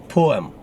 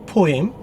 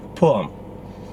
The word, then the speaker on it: poem: The correct pronunciation is poem. Poem. Now, some people say poem. That's not a standard pronunciation. The correct way to say it, poem.